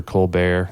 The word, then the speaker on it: Colbert: Debbie Colbert, or I don't know if it's Colbert or Colbert.